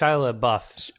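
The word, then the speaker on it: LaBeouf: Lao sh yeah sh La buff I think I think it actually is pronounced buff I think you pronounce the F on the end so now are you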